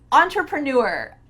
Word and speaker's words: entrepreneur: And finally, one of the most requested words was entrepreneur. Entrepreneur. Let's break this long word down. On. Tra. Pra. New.